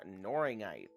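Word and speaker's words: knorringite: Okay, our next one is called Noringite. Noringite. That's spelled with a K.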